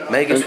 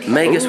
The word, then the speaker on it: Magus: Magus with a hard G, actually. Magus with a hard G.